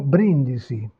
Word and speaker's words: brindisi: En revanche, dans le mot brindisi toast, vous avez la première syllabe qui porte l'accent et là vous avez la consonne qui bloque l'allongement vocalique, donc pas d'allongement vocalique et limiter il brindis.